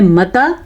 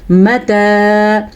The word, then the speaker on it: مَتَى: وَيَقُولُونَ موٹا قاف، مَتَى هَذَا الْوَعْدُ، مَتَى اتنا لمبا کرنا ہے. اچھا جی، اگر آپ اس کو پڑھ رہے ہیں متا تو آپ نے غلط پڑھ دیا، متا نہیں ہے، یہ کیا ہے؟ مَتَى هَذَا الْوَعْدُ.